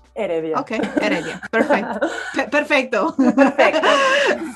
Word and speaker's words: Heredia: Did I say it's Heredia? Heredia. Just don't think in the age. Heredia.